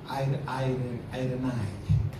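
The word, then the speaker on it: εἰρήνη: Iren itu bahasa, bukan, tapi bacanya bukan Iren, gitu. Irenai. Bahasa Yunani.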